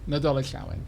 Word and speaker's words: Nadolig Llawen: Nadolig Llawen.